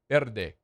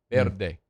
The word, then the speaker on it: Verde: And the V is more like a B like Verde. Verde. Anyway, um So, Ryan Day